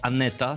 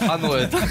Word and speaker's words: Anoeta: To mega, ale nie chodziło o Aneta, tylko Anueta.